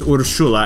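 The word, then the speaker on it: Urszula: spelled like this but urshula is uh somewhat common polish name and the way that they say it is urshula I don't know if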